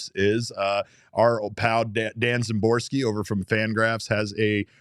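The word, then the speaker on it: Szymborski: But I mean, you clearly pronounce it with a Z sound. Sound. His name is not Dan Szymboski. Yeah, it's Dan Szymboski.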